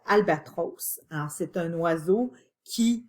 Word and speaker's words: albatros: J'ai bien prononcé Albatros.